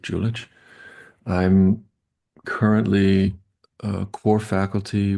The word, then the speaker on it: Julich: Some people pronounce it Julik. Uh I pronounce it Julich.